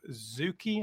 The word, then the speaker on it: Zucchi: Well, today I want to introduce you to Zucchi.